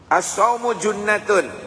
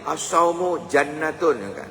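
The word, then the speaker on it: الصوم جنة: is gara-gara istigfar next asu junatun jangan dulu ada membacanya itu asumu jannatun kan tidak ada harakatnya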